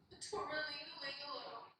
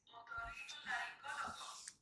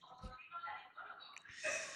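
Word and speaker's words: otorrinolaringólogo: Torrelingalingaloo. No, it's otorrinolaringologo. Torrelingalingaloo. It's otorrinolaringologo.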